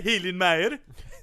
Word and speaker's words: Hillenmeyer: Hunter Hillenmeyer. That's how you pronounce it.